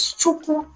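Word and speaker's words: Chukwu: That is the sound it produces while being pronounced. Ch. The first word that we have is chuku.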